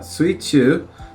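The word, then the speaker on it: 水中: So the kanji on the left often gets pronounced as sui. So sui or mizu, you know, but in this case sui. And then the one on the right typically gets pronounced chu when it's in this position, but it can be pronounced naka. But suichu is underwater because you're in the water.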